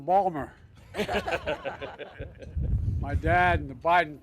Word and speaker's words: Baltimore: folks I say to my dad dad they're mispronouncing Balmer my dad and the Biden please sit down